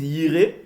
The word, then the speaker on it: Jireh: Ils disent Yireh, mais le Y, nous on le prononce J. Vous voyez? Donc nous on dit Yahvé Jireh.